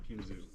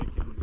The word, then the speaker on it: Kinzua: has changed so much the locals now pronounce it kinoo so they just just yeah so both so both are correct you'll see a lot of the locals will say kinsu and a lot